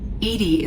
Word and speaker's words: EDI: Edie is the phonetic pronunciation of EDI.